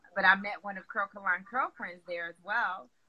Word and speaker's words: Curlkalon: Spell it, child. I don't know. That's okay. It's Curlkalon.